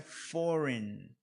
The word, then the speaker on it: foreign: Aqui a pronúncia é foreign. Esse som desse G aqui desaparece, ó. Foreign.